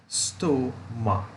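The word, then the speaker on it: Ambystoma: And that word is Ambisoma. Now that's an interesting word. And we pronounced it Ambisoma. Ambistoma. There are 4 syllables.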